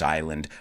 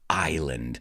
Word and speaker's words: island: And we're going to talk about this island right now. But first, I just want to focus on the pronunciation of the word island. Let's say this sentence. Ireland is an island.